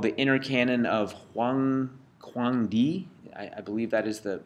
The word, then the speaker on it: Huangdi: is a text called the Inner Canon of Huangdi. I believe that is the correct pronunciation. If anybody, is that Mandarin? Can anybody pronounce Mandarin in the room? Yes, it is, and you're pronouncing it perfect. Okay, Huangdi, there you go.